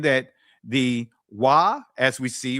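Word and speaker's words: waw: Wa, not Va or U or U.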